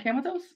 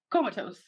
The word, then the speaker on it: comatose: camouflage and comatose wait isn't it called camatos comatose anyway comatose or as amber lymphoma